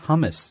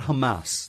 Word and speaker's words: hummus: you've ever had hummus, however you pronounce it. I pronounce it hummus. You could do that as well. That's another way to go. But not Hamas. That's a different thing.